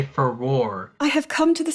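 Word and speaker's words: Farore: universe, say the name Furore, which no one can pronounce that and stick to it. It's been pronounced differently in different ways. But you finally say Furore.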